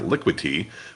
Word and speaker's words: Liquity: this right uh it's liquid te uh no D in there liquid te which is a decentralized